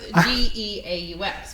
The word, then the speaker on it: Geaux: And their saying is "Go Tigers," and they're like a French or, they're rooted in like French culture. So Now I get it. yeah, so it's Geaux.